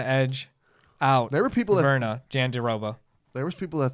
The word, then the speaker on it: Virna: I like both these girls, but I'm more rooting for Verna For how do you say her? Virna? Yeah, Virna.